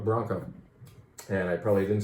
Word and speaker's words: branco: Not blanco, but branco.